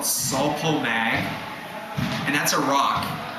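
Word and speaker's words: Sul-Po-Mag: But the two sources of potassium that I think are great sources, one is called sulpo mag and that's a rock. It's it's spelled out s u l p o m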